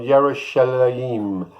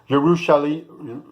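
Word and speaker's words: ירושלים: The Hebrew word for Jerusalem, Yerushalayim. Yerushalayim.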